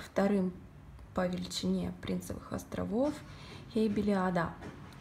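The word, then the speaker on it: Heybeliada: по величине принцах островов и били а да именно ударение на последнюю буковку потому что ода по-турецки остров всего их напомню 9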